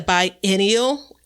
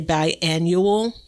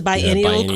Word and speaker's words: biennial: It is a biennial. And it's another word that I had to practice saying because I want to say biannual, and that's not it. It's a biennial crop.